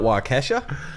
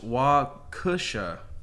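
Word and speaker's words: Waukesha: uh dummy the uh not wesa uh the name of the uh W the note on this uh pronounced wusha wusha wusha and a suburb of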